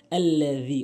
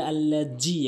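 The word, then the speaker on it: الَّذِي: এরপরে আল্লাযী, অনেকেই বলে আল্লাজি, এখানে ভুল করে। আল্লাজি বলা যাবে না, বলতে হবে আল্লাযী, দালের উচ্চারণ জিহ্বার আগা দাঁতের আগা।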